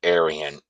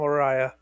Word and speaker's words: Araya: Because they're But just no, going to pronounce it Aryan yeah, right. there's without there's nothing realizing where it comes from. there's nothing arrogant about Tom Araya.